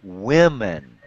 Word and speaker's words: women: It's woman, and then it's women. Women. Women. Women. Yep, very good. Very good. So when we have plural... not only does the second syllable change spelling, but the first and the second syllable change pronunciation.